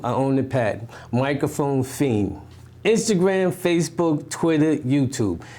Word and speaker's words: Phine: Microphone Fiend. Instagram, Facebook, Twitter, YouTube. And Fiend is spelled Phine.